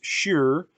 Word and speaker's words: shir: comprised of two words the first word meaning song is pronounced shir and the second word